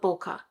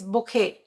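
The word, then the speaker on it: bokeh: why people call it boka I never understood why people call it B it's not B it's Boke there's an H behind it I don't know if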